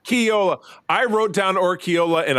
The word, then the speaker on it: Orquiola: It's Orquiola. Almost. Dang it! You missed a syllable. Orquiola. Say it fast. Orquiola.